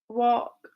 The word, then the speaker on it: walk: If the letter L comes after the vowels A, O, or U, and the vowels are in the middle of the word, then the L is silent. So folk, walk, half, yoke. Very good. Joe, bulk is an exception.